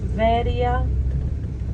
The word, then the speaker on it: Veria: to Berea quitting great is pronounced Veria v-e-r-i-a and that's what you will